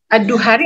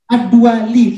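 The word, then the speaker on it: الدؤلي: Ad-Duari atau Ari Ustadz? Ad-Duali. Duali. Oke.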